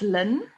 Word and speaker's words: ln: that's an owl um we actually pronounced this lin now len is a